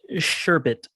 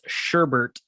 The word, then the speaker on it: sherbet: flavored ice cream it's the word is sherbet colloquially mispronounced as sherbert uh for the pet